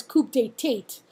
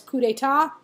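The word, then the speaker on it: coup d'état: right of the slide it looks like it says coupe date but it's actually pronounced it's French word it actually says coup d'etat and he's gonna over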